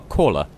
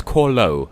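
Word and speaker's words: Khorlo: In the last episode, we got a caller. I think it's either caller or corlo. I keep saying it wrong. It's corlo.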